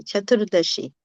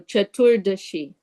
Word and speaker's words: Chaturdashi: Yeah, Chaturdashi is okay. Chaturdashi. Chaturdasi. Chatur. Chaturdashi. The she, sa, like a sha Okay. with a. So Chaturdashi.